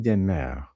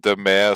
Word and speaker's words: de Maere: I mean, uh, it's demar. That's how it's pronounced in Belgium at least, but whenever I'm in France or Germany and so on, like people used to pronounce it the mayor.